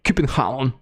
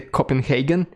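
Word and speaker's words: København: So, in Russian, we say Copenhagen. In English, it is Copenhagen. But the way you properly say it, and of course I am not Danish, so I will not say it properly, but the way you're supposed to say it in Danish is Copenhagen.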